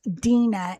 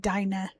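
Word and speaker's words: Dinah: But her actual name it's pronounced Dina in Hebrew. Um Americans pronounce it Dina.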